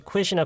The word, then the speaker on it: quit: Q 발음은 따로 있는 게 아니에요. 그러니까 무슨 얘기냐면 Q 발음이 Q처럼 발음 나는 경우는 Q 한 글자만 읽을 때만 그래요. 그게 단어에 있을 때는 C나 K랑 똑같이 발음이 돼야 돼요.